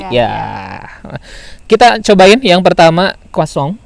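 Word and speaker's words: croissant: kita cobain yang pertama kosong atau tulisannya croissan Tapi bacanya katanya Kosong gitu Mau yang mana saja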